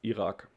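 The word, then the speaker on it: Irak: is very lucky because iraq is well very similar in german it's iraq so we have this we have this r sound again which is quite difficult but the other stuff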